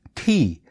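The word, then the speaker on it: 茶: It may not be surprising then that the word tea comes from the Chinese character ti, which is pronounced ti in Hokkien Chinese, in particular in the coastal province of Fujian.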